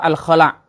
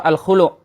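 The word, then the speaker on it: الخلع: Yang benar adalah surah Al-Khala' atau surah Al-Khulu'. Diambil dari lafaz nakhla'u.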